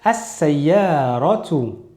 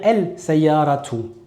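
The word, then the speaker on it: السيارة: Une voiture, on va dire as-sayyaratu. On ne va jamais dire el-sayyaratu.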